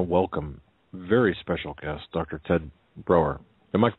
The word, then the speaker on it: Broer: Ted Broer. Am I pronouncing that correctly?